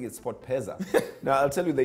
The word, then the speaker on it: SportPesa: It's actually three, SportPesa. Pensa. It's just three syllables.